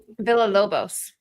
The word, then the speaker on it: Villalobos: Villalobos.